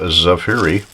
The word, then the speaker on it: Zaffiri: And it is from, I pronounce it Zaffiri.